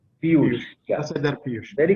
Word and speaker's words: Piyush: Or am I pronouncing it wrong? Piyush.